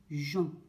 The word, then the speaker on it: Jean: G et E et ON, ça donne Jean. D'accord? Le E, nous n'allons pas le prononcer. Nous allons dire qu'il est muet.